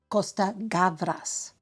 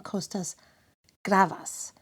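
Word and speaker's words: Costa-Gavras: own ethnic background first off a correction I mispronounced the name of the eminent screenwriter director and producer Costa gavas who created the beautiful animated short of the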